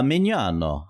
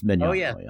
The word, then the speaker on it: Mignogna: Uh Mignogna. Uh-huh, or Mignogna, yeah. I I like to tell people think of a filet mignon and a donut at the end. Yeah, Mignogna.